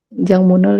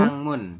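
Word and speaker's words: 창문: Jangmunel yolgo Ini dibacanya Wangiheo. Changmun ya, bukan Jangmun. Changmun. Oh, Changmunel Sangmunel Yolgo yolgo Hangiheo.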